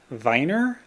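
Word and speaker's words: Werner: I haven't gotten very far, unfortunately, but uh, Richard uh, Viner. He's German, so you pronounce the W V, right?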